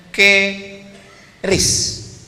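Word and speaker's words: QRIS: mall ditulis ada namanya ke ris qis Kis. Cara bacanya gimana sebetulnya? Keris. Q-nya quick. Quick artinya cepat. R-nya respons. Kris quick response code.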